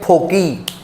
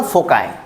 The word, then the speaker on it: foci: कभी शब्द सुना होगा फोकाई, कभी कभी FOCI होता है। कई लोग तो इसको प्रोनाउंशिएट करते हैं फोकी, फोकाई, फोसी। नहीं, इसको बोलना फोकाई।